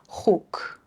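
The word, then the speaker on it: خوک: But then you'll notice here that when the vav is in the middle of the word, but it's part of the syllable, then it's u, like huk, just one syllable, pig.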